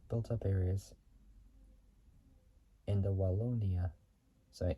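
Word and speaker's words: Wallonia: up areas in the wona soorry in the wona it's spelled w a l l o n i a region 120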